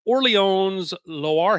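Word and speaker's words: Orléans Loiret: he is signed with Orleans Loire. At least that's what Google told me how to say it. Or it's just Orleans Lorette for my old Midwestern self.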